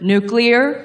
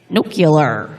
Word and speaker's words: nuclear: bit better if uh George W. Bush could say the word nuclear correctly because he says it like nucular. That's not how you say it?